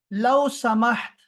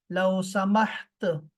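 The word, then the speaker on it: لو سمحت: ऐसे ही बोलते हैं, लो समाहत। आखिर में ता को जो है, ता को साइलेंट रखा करें, ताकि सामने वाला मर्द हो, औरत हो, बूढ़ा हो, बच्चा हो, सबके लिए बराबर हो जाए।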